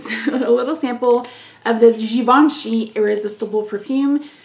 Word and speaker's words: Givenchy: little sample of the givenchy irresistible perfume i pronounced this gavinji for probably forever until someone corrected me which drives me crazy